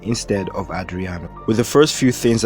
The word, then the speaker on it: Adriano: hilariously involved her not being able to to pronounce his name properly as she would often refer to him as adiranu instead of Adriana with the first few things I've said here